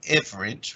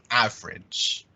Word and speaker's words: average: great Nikolai basis and this is that ah sound so we don't say average we say average average okay average yeah